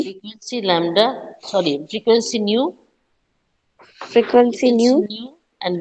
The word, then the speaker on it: nu: This is how you have to pronounce nu, N-U. This one, nu. Okay. It's like this. And lambda is Lambda. You got it? Lambda. So this is lambda. You understood? And this is nu. How you pronounce NEW, new, right? Same thing has to be done over here.